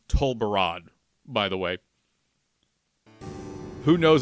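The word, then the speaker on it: Tol Barad: what's going to be on that island uh pronounced to barad by the way who knows what's going to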